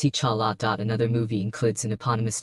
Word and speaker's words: T'Challa: he played as the main character called T'Challa, pronounced T'Challa.